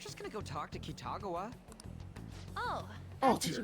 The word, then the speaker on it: Kitagawa: We're just gonna go talk to Kitagawa. Oh, Oh, that's what you dear meant. Oh my god, that pronunciation makes me want to vomit. How is it properly pronounced? Kitagawa. Kitagawa, okay.